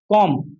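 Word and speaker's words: comb: एम के बाद एम के बाद। ठीक है? जैसे देखो कॉम क्या लिखा हुआ है?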